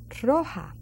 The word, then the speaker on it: roja: That R strong. That J, it's an H sound in English. Ha. So it's roja.